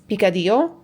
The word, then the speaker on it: picadillo: It's basically like a because like I forgot I know I don't pronounce it correctly every time. It's picadillo.